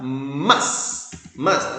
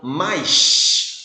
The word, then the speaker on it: mas: Vou pronunciar mas. Apesar de ser carioca, né? Vou fazer um esforço aqui para pronunciar a palavra como sendo mas, para ficar melhor aí para o seu ouvido, né? Senão, mais. Né?